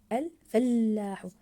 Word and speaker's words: الفلاح: الكلمه لا يستعمل الفلاح الفلاح اجل ضاعفنا حرف اللام في كلمه الفلاح احسنتم الجرار الجرار احسنتم